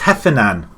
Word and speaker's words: Heffernan: He's getting cuts inside, goes for goal, and Heffernan, or is it Hefferman or Heffernan? It's Heffernan. He collects it, so I've been saying his name wrong all this time.